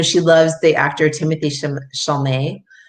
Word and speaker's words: Chalamet: it you know she loves the actor timothy charlemay chalamet or we even say his name he's he's